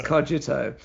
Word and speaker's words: Xogito: And importantly, people now also know how to pronounce Xogito as Cogito.